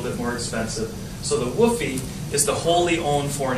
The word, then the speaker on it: WFOE: venture a little bit more expensive so the woy is the wholly owned foreign Enterprise sometimes it's spelled wfoe or wof but woy is how it's pronounced either way wholly owned foreign Enterprise and